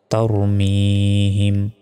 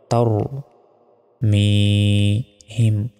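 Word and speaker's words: تَرْمِيهِم: এক সেকেন্ড টানো হবে তার মিহিম এখানে তার বলা যাবে না বলতে হবে তার ঠোটটা গোল হবে তার মিহিম তার মিহিম বা জের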